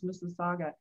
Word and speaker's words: Mississauga: It took me about 6 months when I first started with INTEGRA to pronounce Mississauga. We're just next door to Toronto. It's very similar to Kawakasaga, which is a lake.